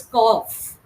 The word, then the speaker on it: cough: FL do through okay it is not CU it is cough cough yes cough cough